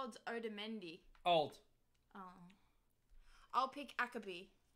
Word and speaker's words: Otamendi: Otamendi.